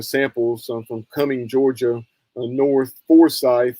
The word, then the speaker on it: Forsyth: from Cumming, Georgia, North Forsyth. Down there they pronounce it Forsyth instead of Forsyth, like in North Carolina.